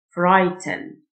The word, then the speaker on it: frighten: GH silent Frighten.